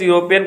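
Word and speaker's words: European: देखो यूरोपियन आ रहा है, यूरोपियन जो है स्टार्ट वाले ई से हो रहा है, लेकिन उसका प्रोनाउंसिएशन जो है वो हम यू से कर रहे हैं, यूरोपियन।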